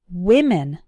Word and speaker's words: women: to an e but the difference in pronunciation is actually in the first syllable women way with women repeat after me one